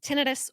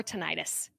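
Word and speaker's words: tinnitus: First of all, you can pronounce it tinidis or tonitis. Either are correct. I prefer tinidis, so that's what I'll use in this podcast, but feel free to stick with whichever pronunciation flows best for you.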